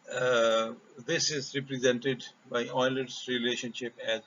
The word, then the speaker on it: Euler: number is provided by euler's representation note that you should pronounce this as euler euler's a famous mathematician